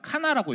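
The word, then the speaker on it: קנא: 자, 이걸 어떻게 읽냐면 카나라고 읽어요. 카나. 카나라고 읽는데이 뜻이 시기하다, 질투하다라는 뜻이거든요.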